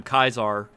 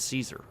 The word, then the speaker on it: Caesar: shows up saying I'm kaisar and this is Kaiser's Legion why would anybody mispronounce it as Caesar like saying Caesar is an outcome of ecclesiastical Latin like that's I I